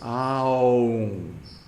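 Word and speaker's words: ॐ: And then finally, because there's a bindu on top of it, a bindu, it should have a moment of silence, half a beat of silence at the end. So this is the proper way to pronounce Om. But because that explanation has been lost, people take a shortcut and pronounce it Om. It's Aum.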